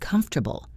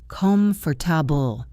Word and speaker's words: comfortable: A classic example is the word comfortable. You might try to pronounce every syllable. com-for-ta-ble But a native speaker says comfortable. The middle sounds get swallowed.